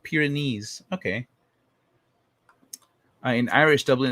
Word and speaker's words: Pyrenees: i watched the other star gate pyrenees it's pronounced pyrenees okay i in irish dublin is called the